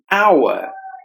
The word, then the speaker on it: hour: as tit suggested our hour our our silent we just have to pronounce this word as our persuading persuading the letter